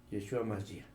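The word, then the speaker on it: Yeshua Mashiach: Jesús el Cristo pero en hebreo así se pronuncia yeshua masia nada nada que mejor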